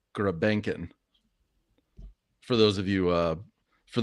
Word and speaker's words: Grebenkin: Yeah, I see on Elite Prospects the way it's spelled is Grebionkin, but it's AKA Grebenkin.